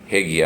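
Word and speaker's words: Haggai: John Edmund hegi hegi some pronounce it as hegi or he HEI hegi I think that's the standard pronunciation so John Edmund hegi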